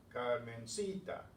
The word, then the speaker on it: Carmencita: Where's the stress? The stress is here, right? Carmencita. How do we know that? Because it ends in a vowel and it's the next to the last syllable.